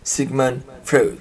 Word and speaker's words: Sigmund Freud: Bacanya gimana? Sigmund Freud.